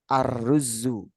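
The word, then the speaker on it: الرز: Tapi kalau kemasukan alif lam, misal seperti ini, maka bacanya arruzu, arruzu.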